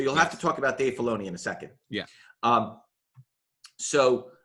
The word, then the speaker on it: Filoni: credit to roll on the screen is usually Dave Filoni, right? Yeah. Did I pronounce that correctly? Nope. Dave Filoni. Filoni.